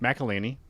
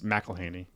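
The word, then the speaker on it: McElhenney: made a video of how to say his last name properly as mcelhaney like his like Penny like there's a whole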